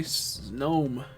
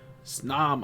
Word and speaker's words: Snom: going in Precious boy snom snam I keep saying it wrong snam going in here